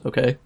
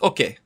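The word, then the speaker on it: okej: me where you put some of these items, okay?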